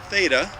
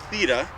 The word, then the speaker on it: Theta: theta long e not theta theta long e um is buried over